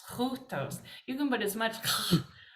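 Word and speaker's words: οὗτος: One suggestion, correction is that very first word. It's kind of hard, easy to miss because it's over the second letter because this makes one sound. This utos, because it has a rough breathing, we say hutos, hutos.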